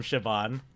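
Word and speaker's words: Siobhan: like the the name the name Shaban it's like there there's there's an H there's an H in that name right yeah where is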